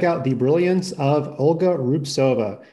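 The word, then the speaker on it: Rubtsova: And let's check out the brilliance of Olga Rubsova. She's got that crazy silent T in her name.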